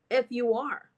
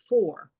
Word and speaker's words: for: And it said, I need to go to the store for, F-U-R. I didn't say fur. Yes, you did, Luisa. The word is for, not fur.